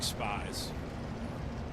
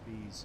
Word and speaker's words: Spees: Would be cool if Steven was a detective with the last name that obviously looks like Spies. He'll tell us it's not pronounced that way. He says it's pronounced Spees.